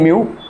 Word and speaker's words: mu: This is basically म्यू, ठीक है, इसका प्रोनाउंसिएशन है म्यू और इसको हम बोलेंगे एटॉमिक मास यूनिट।